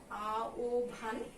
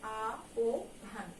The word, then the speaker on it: আহ্বান: আহ্বান মানে হচ্ছে ডাক, আ ও ভান, এটার উচ্চারণ হচ্ছে আ ও ভান, কেমন?